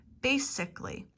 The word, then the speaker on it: basically: Basically. Notice how it is the same ending as typically. Basically. Omitting the A again.